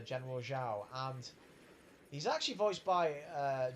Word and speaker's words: Zhao: Sorry, I'm pronouncing his name wrong. Zhao.